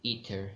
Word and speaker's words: aether: E-T-H-E-R or A-E-T-H-E-R. Both are same, ether. You pronounce it ether, okay?